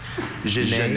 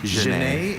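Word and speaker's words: genet: Jane is from Latin French.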